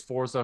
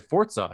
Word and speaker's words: Forza: And he's like, there's no T in there.